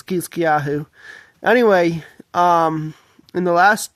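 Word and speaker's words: חזקיהו: I think the Hebrew pronunciation is Kiskyahu.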